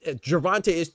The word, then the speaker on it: Gervonta: Because I feel like Gervonta is 3 syllables, bro. 3 syllables.